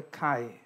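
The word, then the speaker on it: Χ: read it as Kai Kai is ch I is one letter only oh the CH in Greek is pronounced as Kai so instead of saying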